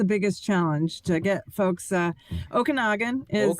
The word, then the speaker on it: Okanagan: Okanagan is how we pronounce it.